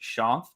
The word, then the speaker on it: Shanth: I see my name, so it's spelled Shanth. That's why people want to pronounce it that way. It makes total sense to me, but it's pronounced Shanth. And the easiest way I can think to explain it is, in terms of its origin, is it's an Indian name, and it's the equivalent